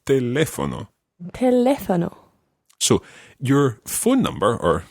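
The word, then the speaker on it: teléfono: they live on them there's an accent on the second e exactly because what can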